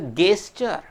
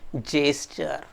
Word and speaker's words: gesture: Probably it is to be pronounced as a gesture, but no friends, it is gesture.